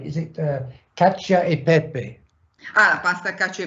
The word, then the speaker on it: cacio e pepe: It's a classic, and I'm not sure I'm going to pronounce it right. Is it cacio e pepe? Pasta cacio e pepe. Yeah. Cacio e pepe.